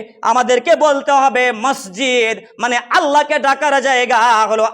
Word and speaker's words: মসজিদ: হলো কিরাহু ওই মতো আমি আপনি যে মসজিদ মসজিদ বলে চলে আসি মহিজ মহিজ বলে চলে আসি আরো কেয়ামত পর্যন্ত মহিজ মহিজ মহিজ বল কিন্তু এটা হলো কি খারাপ ভাষা তাহলে ভালো ভাষাটা হলো উচ্চারণী উচ্চারণ হলো কি মসজিদ মানে আল্লাহকে ডাকার জায়গা